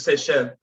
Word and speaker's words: Seychelles: What about seashells? Seychelles? I don't. How's that pronounced? It's in the Caribbean. It's French. It's Seychelles.